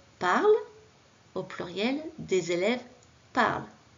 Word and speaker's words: parlent: Deuxième phrase, au singulier, un élève parle, au pluriel, des élèves parlent. Là aussi, j'ai rajouté un N et un T que je n'entends pas.